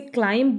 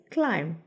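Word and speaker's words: climb: इसे कहते हैं क्लाइंट आप इसे क्लाइंब नहीं कहेंगे बी यहां पर साइलेंट होगा यू विल से क्लाइव इसकी सेकंड फॉर्म है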